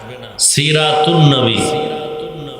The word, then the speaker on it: সিরাতুন্নবী: মিলাদুন্নবী আলিফ লাম লেখায় আসবে পড়ায় আসবে না সিরাতুন্নবী যেমন বাংলাতেও দুই শব্দ সন্ধি হলে অক্ষর লেখায় আসে অনেক সময় উচ্চারণে আসে না যেমন বিদ্যা একটা শব্দ আলো